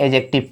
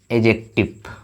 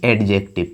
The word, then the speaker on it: adjective: तो आते हैं हम लोग एडजेक्टिव पर, एडजेक्टिव ना कि एडजेक्टिव। क्या बोलेंगे भाई, ये डी को साइलेंट रखेंगे तो एडजेक्टिव।